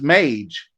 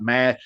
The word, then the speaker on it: Mage: And that is the correct pronunciation. I don't know why I thought Mad. I think Mage, magic, but a mage is a magician. So that's probably where that comes from.